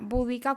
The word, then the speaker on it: Boudica: castellano incluso Sería más correcto eh escribirlo tal cual suena búdica con u con tilde Y si la o pero bueno como esa palabra ya existe y hace referencia al budismo pues es mejor dejarlo tal cual toda esta cuestión lingüística